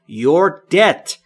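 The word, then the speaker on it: debt: چه کار پداخت کردن دت د با بی سایلنت یا بیصدا و در اینجا اینجا تلفظ نمیشه یعنی قرض پس دت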